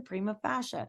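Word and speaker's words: prima facie: you say it again Prima fascia so that you they can also build that knowledge of correctly speaking new words first it's Prima fascia Prima first fascia on its face cream of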